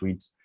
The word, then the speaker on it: REITs: real estate investment trusts they are called reits or they are pronounced reads but they are kind